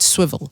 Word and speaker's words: Swvl: i'm gonna start with swivel so swivel is spelled uh swvl and swivel is a